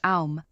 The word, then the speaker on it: Om: The Biya mantra Om, pronounced Aum, will help balance his intuition and calm the mind.